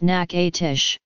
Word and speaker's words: Natchitoches: state of louisiana Natchitoches is a town in Louisiana the name is pronounced Natchitoches meat pies are not common in most US